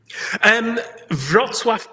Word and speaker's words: Wrocław: Arek grew up in Arek, please pronounce where you grew up. Wrocław, Poland.